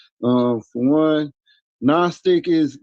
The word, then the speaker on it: Gnostic: Um, for one, nonstick is the G is silent.